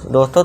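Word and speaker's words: this: अब देखिए थिस थिस ऐसा कोई वर्ड होता नहीं इंग्लिश में। तो इसे क्या पढ़ेंगे? हम द का साउंड दे देंगे। तो इसीलिए द हो जाएगा। दिस।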